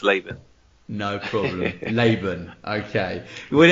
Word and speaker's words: Laban: is that how you pronounce it it's actually pronounced Laban rooms laan sorry I knew I'd make a bit of a Comm say leban lion lean you know I'll get them all yeah but it's actually pronounced laan no problem laan okay well it's it's a